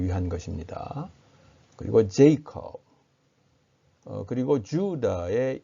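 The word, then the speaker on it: Judah: 그리고 제이콥, 그리고 주다의 이 지금 이 하이픈 덧금 표시는 길게 발음하라는 뜻이죠. 장모음을 표시합니다. 그래서 주다 길게 발음하라는 뜻으로 이렇게 표기를 했습니다.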